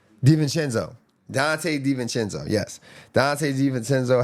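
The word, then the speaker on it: DiVincenzo: How do you pronounce his last name again? Danchenzo.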